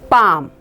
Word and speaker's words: bomb: silent so L is not pronounced so we pronounce this word as bomb next word is walk